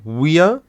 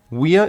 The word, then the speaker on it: wir: It's not wir. Wir is a little bit English pronunciation. It's wir.